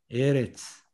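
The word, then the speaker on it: ארץ: 예를 들어서 에레츠. 에레츠는 땅입니다. 자, 이 앞에 액센트가 있어요. 이 첫 번째 음절에.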